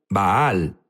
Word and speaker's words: Baal: bal Jesús habló sobre bal unos dicen bal baal es la pronunciación correcta correcto pero sabes qué